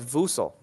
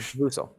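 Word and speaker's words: Vassell: Oh, it's Vusel. Okay, so I've been pronouncing it wrong. Thank you, Colin. Vusel.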